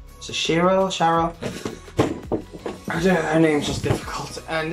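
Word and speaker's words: Syaro: You know, her name is spelled S-Y-A-R-O, but they pronounce it different in the show. So Shiro? Sharo?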